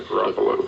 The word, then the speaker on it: Garoppolo: Did I pronounce that right? Yeah, Garoppolo.